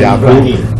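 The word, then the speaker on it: يعقوب: Jacob was Yaqub. Yeah. No, that means that how we pronounce. We pronounce it Yaqub.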